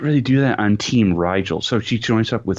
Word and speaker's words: Rigel: I got to assume that the team names are based off of stars, because the rival team they pronounce it as Regal, but I think it's supposed to be Rigel, because the main character's team is Spica.